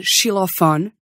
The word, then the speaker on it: xilofone: But in other spots, it can be sh, s, or x. As in xilofone, máximo, and taxi.